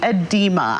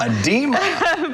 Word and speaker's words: edema: nurse Christina Paris hi good morning it's actually edema edema but it does it does look like that